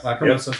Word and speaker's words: Lacrimosa: Lacrimosa, if I'm saying it right. Yep, Lacrimosa.